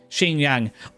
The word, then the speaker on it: Xinjiang: We're struggling with like it's pronounced Xinjiang.